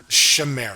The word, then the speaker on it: Chimera: How do you pronounce that? Chimera. Uh yeah. I mean it's Chimera. I mean we I like we double check. We're like you said he's part of the Shimera Institute and we were like both like uh